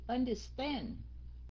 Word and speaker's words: understand: time I understand cái understand nhấn âm thứ ba nha các anh chị understand start on last syllable understand that the traffic